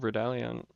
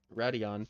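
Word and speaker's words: Raidillon: Because you'll notice, like at Spa, at the top of Radallion, it's not how you pronounce it at all. At the top of Radion, that's how you pronounce it.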